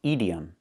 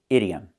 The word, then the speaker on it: idiom: The word is not pronounced idiom, it's pronounced idiom. Not the long E sound like green beans, but the short I sound like this is. It's more open.